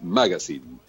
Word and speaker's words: magazine: de origen extranjero entonces en realidad es una palabra de origen inglés y la pronunciación correcta es magazine pero después acá hay